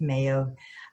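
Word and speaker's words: Mayeaux: able to answer one person that um Ginger Mayo she's with The Arc of Texas and it's ma ye auu X but it's pronounced Mayo um she is like a community Le person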